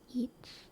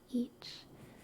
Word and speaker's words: ic: that is I and it's pronounced each each the same way that we would say that each each each each each